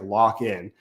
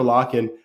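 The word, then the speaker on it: Lakhin: I didn't you don't you don't read it that way but it's pronounced like lockin uh at least according to the TV announcers so Victor lockin I thought he's been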